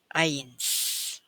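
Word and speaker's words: eins: I bersamaan Nah kita Jangan ucapkan ei tapi ucapkan Ai ains Oke selamat belajar Nah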